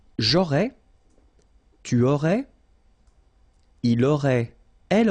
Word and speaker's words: aurais: J'aurais, remember, final S not pronounced.